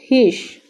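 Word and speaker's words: خویش: आगे है ह आ हिश हिश वा जो है ह वा वा नहीं पढ़ेंगे वा हिश नहीं होगा हिश लिखने में लिखा जाएगा लेकिन पढ़ने में हम व को साइलेंट करेंगे हिश हिश तो देखते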